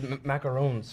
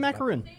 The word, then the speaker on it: macaron: these macarons from Joy Macaron. I'm self-conscious when I say macaron because everyone Just say says macaroon. Just say pronounce it. macarons. Macaron. Like Emmanuel Macron, the president.